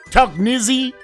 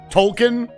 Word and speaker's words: Tolkien: Tolknizzy? Arkansas is back down. Oh, we just hit a free throw. Think about to side back up. Like token with an L. Tolkien?